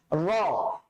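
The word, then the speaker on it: ر: চলেন দেখি আমরা র। র র অবশ্যই রটা মোটা করে উচ্চারণ করতে হচ্ছে।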